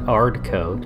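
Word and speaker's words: 'Ardcoat: I think we pronounce it hard coat, apostrophe.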